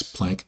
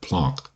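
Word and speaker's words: Planck: Isaac Newton we have Max plank well I think it's pronounced plon but I'm going to keep saying plank now we have Albert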